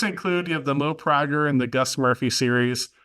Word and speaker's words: Prager: No, it's Mo Prager, not Prager, but that's okay.